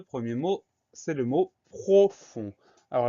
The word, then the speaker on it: profond: le mot profond alors la première syllabe ne pose pas de problème propre et air eau la deuxième syllabe le son s'est créé avec un f leçon on s'écrit au règne sans surprise mais nous avons une lettre muette c'est le d cette lettre u est